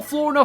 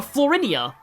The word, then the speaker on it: Florina: of my mispronunciations, uh I used to call Florina Florinia. Florinia.